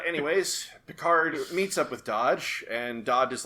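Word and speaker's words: Dahj: said it wrong uh it properly spoken in the correct namekian accent it's dodge okay no no no it's dodge which is spelled d-a-h-j because for the longest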